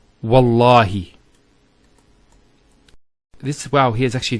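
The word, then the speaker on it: والله: it, and we say Wallahi. This waw here is actually known as waw al-qasm, the waw of swearing an oath. So when we put this waw, it's Wallahi, not Wa'allahi.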